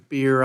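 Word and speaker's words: Beyer: Beer. I'm sorry I mispronounced your name earlier. Beer flows rolls off the tongue as a Texan a lot easier than buyer. So it's it's beer, right? That's right.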